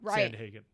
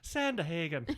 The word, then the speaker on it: Sandhagen: appropriately corrected me like i have been adding another syllable to sandhagen i say i almost give it like an irish santa hagan i love that he's a good mom i have to catch myself now sand hagen right sorry for adding letters